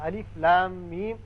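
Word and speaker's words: الم: ہے تو اس کا تلفظ یوں بنے گا الف لام میم، یعنی لا کو جب کھینچیں گے مد کریں گے 6 حرکات، پھر میم مشدد ہے اس پر غنہ کریں گے، پھر میم جب پڑھیں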